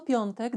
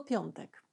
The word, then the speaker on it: piątek: tak sobie pomyślałam że to słowo ten dzień tygodnia nazwa tego dnia tygodnia ma w sobie dwie trudności edukacyjne pierwszą wymowę samogłoski nosowej on zauważ że nie mówię piątek czyli nie traktuje ten głos i bardzo wyraziście tylko mówię piątek i druga trudność to końcówka ważne żeby brzmiała piątek poćwicz a za tydzień widzimy